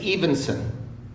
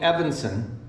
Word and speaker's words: Evenson: her last name because my last name is Evenson if I had a nickel for every time someone called me Evanston I'd have about six bucks come on Patty amen so